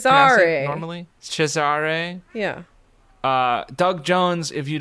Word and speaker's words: Cesare: How do you pronounce Cesare. it normally? Cesare.